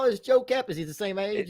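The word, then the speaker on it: Joe Kapp: That was his name, Joe Cap.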